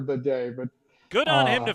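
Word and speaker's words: Badie: now tells us his his name's been mispronounced like four different ways since he got to Denver you know uh batty baddy we we've said it all but he actually has now said it's actually Tyler baday but good on him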